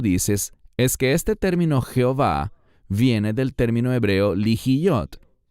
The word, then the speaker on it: Jehová: Y por eso debe ser pronunciado de esta manera y no Yahweh, como los eruditos alemanes en tiempos antiguos enseñaban. Es mucho más correcto decir Jehová o Jehová.